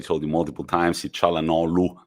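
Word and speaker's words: Çalhanoğlu: you multiple times see chala no lu we don't pronounce the g i stand corrected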